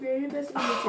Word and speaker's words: Viribus Unitis: Viribus Unitis. I pronounced it right for a change.